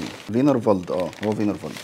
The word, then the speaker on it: Wienerwald: مطعم النهاردة اسمه فينر فولد أو وينر فولد، مش عارف إيه ده؟ اسمه إيه؟ فينر فولد أه هو فينر فولد. لو جيت قرأتها بالإنجليزي هتلاقيها وينر وولد بس الدبليو دي بتتنطق في.